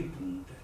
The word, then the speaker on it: ponte: Quindi punte. Dico punte e scriverò ponte. Scrivi O e leggi U. E leggo U.